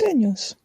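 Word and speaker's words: jalapeño: jalapenos. Yes. I hate to correct you, both of you, but it's pronounced jalapeno.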